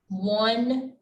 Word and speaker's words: one: once and our last one one mask one mask great job on practicing those words and remember they're pronounced like the w but they're spelled with an o all right all right